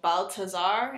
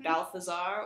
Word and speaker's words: Balthazar: There is no TH sound. So Balthazar instead of Balthazar, or however else you feel compelled to say it.